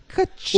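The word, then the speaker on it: Kuchuka: Kachuka. Well, it also rhymes with Bazooka, who's another character, Kachuka, so I could see why you would think that.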